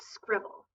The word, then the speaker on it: Scrible: annotating tools it's called scribble so let me show you a little bit about it it is not spelled like scribble although that is how you pronounce it according to the people